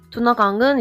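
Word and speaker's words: Duna: 강과 서강이 흐르고 있어요 두나강 이제 여러분이 아 잘 아시는 단부 강 그리고 도나오 강이라고 불리고요 이거를 헝가리 식으로 발음을 하면 두나 강이라고 해요 그래서 두나 강이라고 저는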